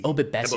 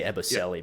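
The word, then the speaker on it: Ebobisse: Is it Ebobessi? Ebobessi. I want to say Eboselli, but that's not right.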